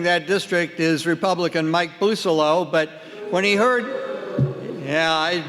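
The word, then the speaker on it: Bousselot: Currently representing that district is Republican Mike Busolo, but when he heard, that's the proper pronunciation of his name, Busolo.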